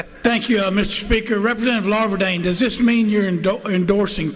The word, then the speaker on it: Larvadain: Am I the only member who pronounced your name right the first time? Larvadain, yes, ma'am, you did.